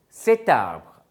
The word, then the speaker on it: cet arbre: So, you are adding a T to make it more pronounceable, cet arbre.